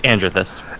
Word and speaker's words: Andrethyst: And then, of course, I got Andrethyst. Please tell me I'm pronouncing your name right. You're not. It's Andrethyst.